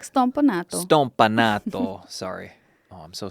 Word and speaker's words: Stompanato: You have to say it like Stompanato.